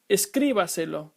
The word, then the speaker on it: escríbaselo: The first one is pronounced escríbaselo.